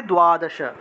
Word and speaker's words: দ্বাদশ: দয়াদশা দয়াদশা ঠিক আছে বাংলায় বললে দ্বাদশ সংস্কৃত হবে দয়াদশা তারপর এখানে তম আছে